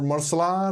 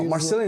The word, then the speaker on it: Marcelian: Hey, and they couldn't pronounce it, or Marceline, or Marceline. Yeah, I don't know why that's difficult, because it doesn't sound like it'd be hard to be pronounced in English. I don't know. I heard Marcelina, Marcelina. No.